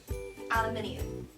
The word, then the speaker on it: aluminium: Aluminum. Aluminium. What? What? I've never heard aluminum before. Aluminum. That sounds like a light source or something. Aluminum. It's aluminum. How do you say yours again? Aluminium. I don't even know how to say that.